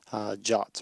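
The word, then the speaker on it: JWT: Allah for something called jots or JSON web tokens jason web tokens pronounced ja like the english word to write something quickly are meant to be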